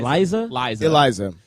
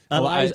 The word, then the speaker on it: Eliza: Am I saying it wrong? Is it Liza? Eliza.